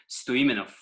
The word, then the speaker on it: Stoimenov: you why don't you say your full name Stewie minim yeah man it's like you've got a you